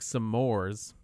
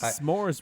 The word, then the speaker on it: s'mores: i forgot about that pronounced s'mores wrong yeah and the whole time i'm like sitting there and i'm like googling s'mores i'm like am i been saying it wrong this whole time or is nick cage an idiot and pronounces it some mores yeah we're just gonna